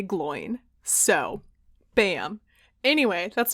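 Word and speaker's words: Glóin: and was like gloin it's definitely glowing and i'm like what no i have seen the movie and in the movie they say gloin so bam anyway that's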